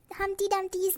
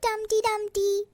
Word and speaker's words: Humpty Dumpty: can't even pronounce my humpty dumpty's name tweezer he is humpty dumpty not dumpty dumpty i know i know